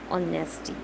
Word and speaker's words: honesty: Suppose I am saying honesty. Honesty, the spelling is H, but I am not speaking here H. It is silent.